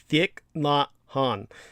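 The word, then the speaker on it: Thích Nhất Hạnh: yeah that's that's vietnamese the name is pronounced thick not han uh they're they at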